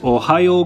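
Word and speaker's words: おはよう: morning in japanese is ohio gozaimasu this ohio right here is kind of pronounced like the ohio state in the united states ohio but keep in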